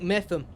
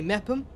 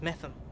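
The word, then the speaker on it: Meopham: don't say it's tender it's like metham some people say mepham miofam no it's metham deranged no that's not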